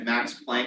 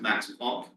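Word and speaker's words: Planck: He told us if we ever said Max Plank, he would fail us. we had to pronounce Max Funk properly.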